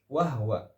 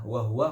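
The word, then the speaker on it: وهو: Wa huwa khata'un. Ya, seharusnya bagaimana? Kalau mengatakan riwayat Hafs, dia pasti bacanya dengan wa huwa, bukan wahwa, karena wahwa bukan riwayat Hafs.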